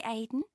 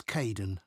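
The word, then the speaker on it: Kaeden: welcome to the team hi Aiden uh it's Kaden I'm so sorry oh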